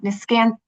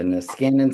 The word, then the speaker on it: Niskanen: So I'm going to pass it to our moderator, Josh McCabe, with the I'm going to say it wrong, Niscan. Josh, you tell us where you're from. The Niskanen Center.